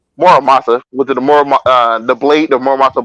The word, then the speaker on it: Muramasa: I butchered the name the first time. Muramasa, with the blade, the Muramasa blade is named after.